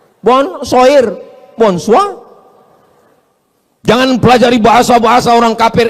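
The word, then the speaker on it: bonsoir: Bacanya bonjou. Bon soir, bonsa.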